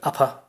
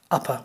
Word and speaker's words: upper: for example the word upper upper what's your upper limit for the rent now upper the r is at the end of the word so it's not pronounced if it was an